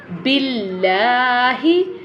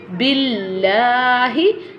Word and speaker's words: billahi: So look at the previous letter, because previous letter have a kasra sign, so this one lam will not be bold, so that is called billahi, billahi.